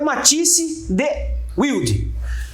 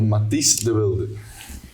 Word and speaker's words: Matisse de Wilde: Porque o Matisse vai falar a pronúncia correta, porque nós aqui brasileiros é Matisse de Wilde, mas tem o correto, e o correto é do holandês, certo ou não?